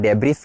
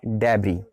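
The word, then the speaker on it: debris: यहाँ देखिएगा लास्ट में आपको एस नज़र आ रहा है, आप प्रोनाउंसिएशन में डेब्रिस कह सकते हो उसको, लेकिन गलत है, प्रोनाउंसिएशन क्या है, डेब्री।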